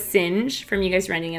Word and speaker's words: Singe: That's how we learned how to say William Singe. And, you know, because we were saying Sing in the beginning. Yeah. And then Sinjay. Yeah. So that's how we learned it was Singe, from you guys running it out phonetically.